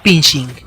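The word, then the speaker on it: phishing: ataques se les llama pinching se pronuncia igual que fishing pesca los usuarios de estos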